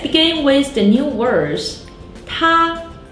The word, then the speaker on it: 他: 他 means he. 他. Another character with the same pronunciation.